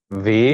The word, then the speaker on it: wie: প্রথমটা ভাস, ওয়াস, was, ভান, ওয়ান, ভেয়া, wer, ভি, wie, wie, warum, warum, wo, wo, woher, woher, der, wohin। wohin, wohin, এই যে ডব্লিউটাকে আমরা ভি উচ্চারণ করতেছি, সবসময় ভি উচ্চারণ করবেন।